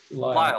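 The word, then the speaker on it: Lisle: baptist theological seminary in liesel illinois is that how you pronounce that i've always wanted lyle i like i like your name and pronunciation though yep not even close wild illinois and is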